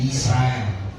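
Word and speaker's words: ישראל: Lalu kata yang kedua itu Yisrael, ya. Jadi bacanya Yisrael.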